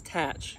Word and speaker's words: Thatch: However, something that most people don't know is that the H is supposed to be silent. So it's tatch.